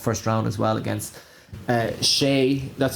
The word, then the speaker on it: Hsieh: a very tough first round as well against Shea. That's how I pronounce it.